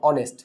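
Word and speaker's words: honest: কিন্তু এইচ এর উচ্চারণটা যদি শুরুতে আমরা এর মতো উচ্চারণ পাই, তাহলে সেক্ষেত্রে কিন্তু আমাদের কাকে ইউজ করতে হবে, অ্যানটাকে ইউজ করতে হবে।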